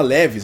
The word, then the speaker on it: Levi's: E existe uma lenda de que quem iria patrocinar a Bimota naquela temporada de 2000 seria a Levi's, aquela marca de calça, né? Eu acho que se pronuncia assim, Levi's.